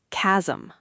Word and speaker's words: chasm: This one looks strange. Maybe classical. I'll guess K. Chasm.